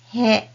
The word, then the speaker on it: へ: He, and this hiragana letter also has another sound which is e when it is used in a sentence as a destination particle.